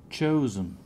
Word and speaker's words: chosen: Chosen. Chosen. What? How do you pronounce the S? We said. Chosen. Chosen. Where's the stress? In the first one. Cho.